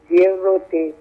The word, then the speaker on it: Diorote: The correct pronunciation of my surname is Diorote.